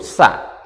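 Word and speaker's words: ثاء: huruf Shark Hai huruf tsa huruf tsa diucapkan dengan ujung lidah menempel di ujung gigi bagian atas yaitu Shade dengan mengeluarkan bunyi berdesis sa sa sa nah tulisannya adalah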